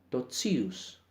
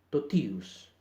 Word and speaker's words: totius: La palabra totius no se pronuncia totius, sino totius.